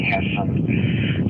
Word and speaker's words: Hassan: You can call me Hotel Alpha Sierra. A lot of people have a lot of trouble pronouncing Hassan. It's hard, it's in laugh, sin is in bad things.